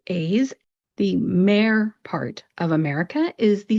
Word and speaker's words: America: If you didn't, let me try to pronounce it one more time and see if you can hear that schwa vowel sound. America, America.